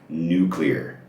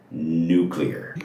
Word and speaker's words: nuclear: It is supposed to be pronounced nuclear. Nuclear. Good nuclear family. Ambitious, fragile, and nuclear. There's no other way of pronouncing this word.